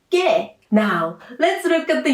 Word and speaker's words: 게: Also, Korean people pronounce 게 in 리을 게 뻔하다 for a tense sound like 게.